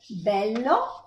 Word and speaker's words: bello: So this one is closed, E, sereno, and this one is open, E, bello.